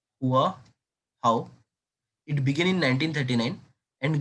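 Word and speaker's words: Hòa Hảo: बेटा हुआ हुआ मूवमेंट, अब बेटा इसको प्रोनाउंस करना, हुआ हाउ।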